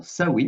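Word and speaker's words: Samhain: On va donc aborder cette première vidéo qui est dédiée donc à Saame qu'on prononce également Sain si je ne me trompe pas.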